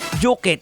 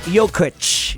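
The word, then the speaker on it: Jokić: common name gaya ng mga nicola juk na ang dapat na pronunciation is nicola yok Ayan kaya si di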